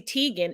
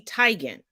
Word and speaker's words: Teigen: not it's Denzel just like it's not Chrissy Teigen it's Chrissy Teigen foreign legendary it wasn't Cecily it wasn't Cicely